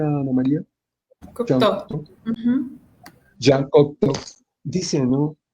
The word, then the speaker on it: Jean Cocteau: Señala Jean Cocteau, ¿se pronuncia, Ana María? Jean Cocteau.